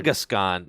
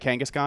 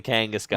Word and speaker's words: Kangaskhan: Kongaskhan. No, is that how you say it? Kangaskhan. It's definitely Kangaskhan.